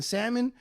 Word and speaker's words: salmon: of your way to pronounce the L in Salmon I'm not gonna [